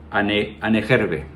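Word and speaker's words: Ahnenerbe: Pues bueno, esta organización alemana se llamaba Anerbe, aproximadamente se pronuncia así, aquí lo voy a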